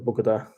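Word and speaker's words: Bogotá: Um, I'm guessing it might be the same as Rio de Janeiro, as I suppose that some places in both Medellin and Bogota um, might be safe, and then and other places aren't.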